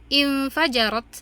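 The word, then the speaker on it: انفجرت: Fa maka infajarot. Nah, perhatikan cara membaca hamzah wasalnya. Fa-nya fathah, maka membacanya dengan kasroh. Infajarot, memancar.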